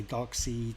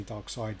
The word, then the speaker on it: Darkseid: dark i know that the kind of americans say dark seed i think in england we say dark side so i don't know